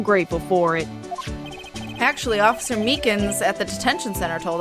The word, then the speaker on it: Meekins: Actually, Officer Meekins at the detention center told us. Ah, that poor little doggy. Poor guy. I keep getting his name wrong and calling him Meekly.